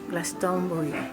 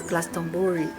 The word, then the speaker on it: Glastonbury: Inglaterra que se chama Glastonbury, ou para nós portugueses Glastonbury, né? Que se fôssemos ler literalmente, pronunciaríamos assim.